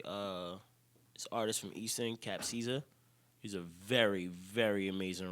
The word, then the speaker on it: Capcizza: It's spelled CAPCIZZA. Cap Caesar. Cap Caesar Griffin.